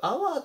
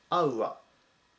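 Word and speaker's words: hour: これがありますこれよくアワーって読む人もいるんですけど正式な発音はアウワーになりますぜひこちらの 327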